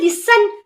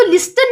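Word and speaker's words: listen: Next आता है लिसन। इसको लिस्टन नहीं पढ़ना, लिस्टन नहीं पढ़ना, जो है ना टी को साइलेंट करना। लिसन।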